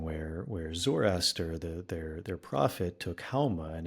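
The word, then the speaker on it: Haoma: Zoroaster, their prophet, took Hauma, and in Farsi you don't pronounce the S, you pronounce it like an H, so Soma would be Hauma.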